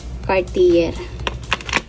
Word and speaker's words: Cartier: Yung pronounce niyan. Cartier.